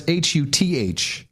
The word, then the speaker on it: Houthis: Well, they say Houthis, but it's Huthis.